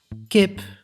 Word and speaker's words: kip: the the letter E the e as short vowel is pronounced as e and as long vowel as e Kip means chicken Leaf means